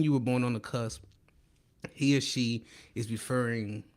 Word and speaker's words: cusp: Now today we talking about cusp. I didn't say cust, C-U-S-T, like everybody like to mispronounce.